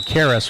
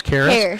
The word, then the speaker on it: Caris: Now, if I pronounce it so Carris, right, it's Caris.